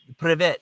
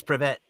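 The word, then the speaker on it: Привет: Privet. I don't know that's about that's the hello in Russian is privet.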